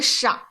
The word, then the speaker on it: 少: Next one, 小 and 少。 Yeah, so remember the pronunciation difficulties here, or the differences between xi and sh and then ao.